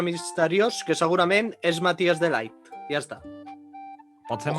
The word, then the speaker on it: de Ligt: Sí, de Light o de Ligt? De Ligt, més que de Light.